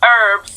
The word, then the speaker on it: herbs: It's going to be pronounced herbs.